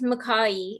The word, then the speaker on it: McCaughey: So how do you pronounce your surname? So it's MCCAUGHEY.